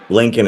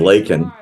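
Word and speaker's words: Laken: And he said Lincoln instead of Lakin.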